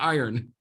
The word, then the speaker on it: iron: or lithium iron phosphate that R is really important in the iron right because lithium ion phosphate is nmc so you got to make sure you're saying it right lithium iron phosphate this